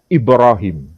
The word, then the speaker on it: Ibrahim: Quran Edi riwayah Hafiz kalau dengan versi qiroah Hafiz itu membacanya dengan istilah Ibrahim tapi kalau dibaca dari versi riwayat Hisyam bacaannya bukan Ibrahim tapi Ibra Hai Makanya kalau saya baca